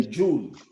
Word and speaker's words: joule: meter is called a joule. The unit of work is called joule. Joule. Joule. It's pronounced joule.